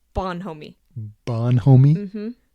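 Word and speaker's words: bonhomie: day I must have missed it he says Bon homie Bon homie mhm how do you spell that b o n h o m I.E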